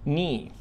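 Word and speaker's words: knee: ارم ارم ارم والركبه ني ني مش هنطق حرف الكي هنقولها كده ني ورجل ليج ليج الرجلين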